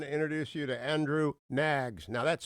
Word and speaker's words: Knaggs: Is Andrew Knaggs the right way to pronounce it?